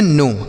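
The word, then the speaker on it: know: तो इसे हम पढ़ते हैं नो।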